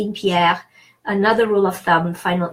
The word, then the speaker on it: Pierre: Now, why do I pronounce E? The E in the middle there is pronounced E because it's followed by two consonants. It doesn't have an accent, so typically I pronounce E when I have an accent. Well, this doesn't have an accent, but it's followed by two consonants, not only two consonants, but two R's.